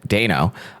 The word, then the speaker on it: Dano: But Paul Dano, apparently Dano, is an extremely famous and beloved modern actor,